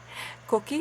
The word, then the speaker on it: coquí: Today I'm going to show you how to create my koki nails.